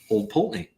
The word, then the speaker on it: Old Pulteney: We learned how to pronounce Old Pulteney. Old Pulteney.